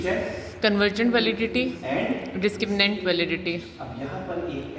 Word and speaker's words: discriminant: हमेशा गलत लिखते हैं, गलत प्रोनाउंस करते हैं. डिस्क्रिमिनेंट. द राइट स्पेलिंग आपके सामने, दैट इज डिस्क्रिमिनेंट. और डॉक्टर साहब बच्चे क्या कहते हैं? डिस्क्रिमिनेट validity.